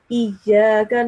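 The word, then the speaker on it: إياك: The kaf sound in iyaka, you pronounced the ka sound a thicker sound, like qaf sound. You have to pronounce the kaf with a thin sound.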